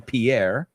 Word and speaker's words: Pierre: Pierre is the French person's name, Pierre. And we say pier es solo una sílaba.